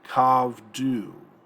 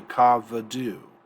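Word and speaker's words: כָּבְדוּ: And we get kavdu. Actually, kavadu. This is a vocal shava.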